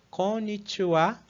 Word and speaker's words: こんにちは: precisa destacar é que a gente fala konnichiwa, então essa última sílaba, apesar de ser escrita como ha, né, com o hiragana ha, a gente vai fazer a leitura dela como wa, né?